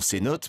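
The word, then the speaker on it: cenote: victor arroyo connaît bien le mot ses notes fut inventée par les mayas et les espagnols sonatt et la vraie prononciation maya à leur arrivée les espagnols chercher de l'eau les mayas leur disait tout le temps sa note que les espagnols ont changé on ces notes parce qu'il n'arrivait pas à le prononcer ça signifie puits souterrains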